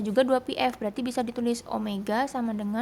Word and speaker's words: omega: yang tadi yang bilang lambangnya kayak wek tapi bukan W nyebutnya adalah Apa omega ini cara bacanya Omega adalah sudut yang